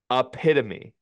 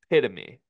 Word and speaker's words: epitome: Guy says Carter, epitome is pronounced epitome, not how you said it. By the way, I don't know if Guy's right. He says it's pronounced epitome, like he I didn't say sonated that.